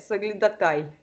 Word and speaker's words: соглядатай: Ты думала, что ударение «соглядатай». Как «гюльчатай».